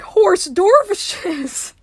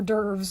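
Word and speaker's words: hors d'oeuvres: PR we have to make horse dervishes I lost it when I first heard that that was so hilarious to me or derves of course but oh my God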